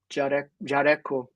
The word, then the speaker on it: Jaleco: Everybody pronounces it different. Ed. Jaleco. Yeah, Jaleco. I think this in Japanese, Jareko.